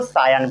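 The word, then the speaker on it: scion: सियोन भी पढ़ते हैं, लेकिन हम इसको सायन पढ़ेंगे। ठीक है? समझ गए? तो नीचे वाला पार्ट क्या है बोलो, स्टॉक है। ऊपर वाला पार्ट सायन है। स्कियोन भी पढ़ सकते हो ताकि स्पेलिंग याद रहे।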